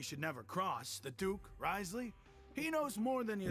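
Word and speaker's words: Wriothesley: never cross the Duke Risley he knows more than you think rley that's how you say his name if he doesn't care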